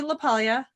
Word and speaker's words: LaPaglia: It's Anthony LaPaglia.